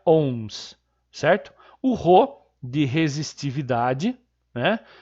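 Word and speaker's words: ohms: em e esse símbolo essa letra grega chamada ao omega se pronuncia once certo horror de resistividade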